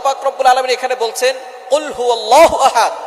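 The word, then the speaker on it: قل هو: আল্লাহ পাক রাব্বুল আলামীন এখানে বলছেন কুলহু আল্লাহু আহাদ। এখানে কফ দিয়ে পড়ছেন কিন্তু অনেকেই ভুল করে উচ্চারণ সঠিক না হওয়ার কারণে তারা পড়ে কাফ। কুলহু আল্লাহ।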